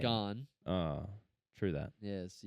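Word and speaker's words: Gane: Well, if you learn how to pronounce his name, you'd realize that joke doesn't even come close to working. What do you mean? It's Gain. gone.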